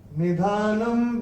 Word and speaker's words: निधानं: चौथे चरण में न के ऊपर अनुस्वार के बाद का अक्षर है ब, और अनुस्वार के बाद जब ब आएगा तो अनुस्वार का उच्चारण होगा म। निधानम बीजम अव्ययम, ऐसे करके आएगा।